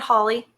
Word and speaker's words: Holle: So I'm pronouncing it Holly. I don't know.